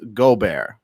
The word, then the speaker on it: Gobert: my day so with that being said Roy gore 'but however the hell you pronounce his name he's been diagnosed with the